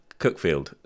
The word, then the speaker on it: Cuckfield: in a place called cookfield that's a very good point actually Hereford and how do you know cookfield is spelled cuckfield because it is it's spelled cutfield and the great thing is